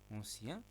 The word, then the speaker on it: ancien: Ancien, on ne prononce pas N.